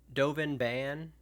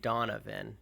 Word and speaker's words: Dovin Bann: Dovin Bann. I keep saying Donovan. It's not even close to Donovan, but I'm going to